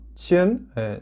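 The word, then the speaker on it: 千: 발음은 링이 되겠습니다. 쉽죠? 자, 두 번째 천, 치엔 자를 설명을 드리겠습니다.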